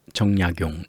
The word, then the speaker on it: 정약용: 성씨가 있는데 그 성씨 중에 이렇게 거물의 정자를 쓰는 정약용 이런 사람들은 정약용, 정 이렇게 읽는 게 아니라 정약용 이렇게 있습니다. 정씨 아저씨가 되는 거죠.